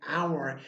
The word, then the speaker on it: hour: Remember the word honest and hour, your H is silent but it's still going on, right? Your word is silent there, your sound is silent, but you have the word honest and you have the word hour where the sound of O comes out.